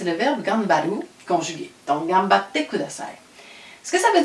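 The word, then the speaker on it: がんばって: Bonne chance et gambatte kudasai. Gambatte, donc il y a 2 T, on coupe batte kudasai. Donc, ici, le kudasai, on a appris que ça voulait dire s'il vous plaît.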